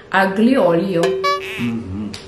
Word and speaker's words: aglio olio: Now I can say it right. Before I would say aglio olio. Aglio olio, which means pasta made with garlic and oil, which is olive oil, I think. Mm-hmm. So don't say it wrong again after you watch this video.